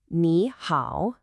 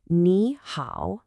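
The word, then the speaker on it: 你好: First, I want you to listen really closely to the tones. It's nihow. Let's do that again. Niha.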